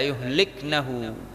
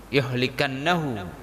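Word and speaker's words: يهلكنه: Jadi bacanya la yuhliknahu atau hatta yuhliknahu, bukan yuhlikannahu, ya.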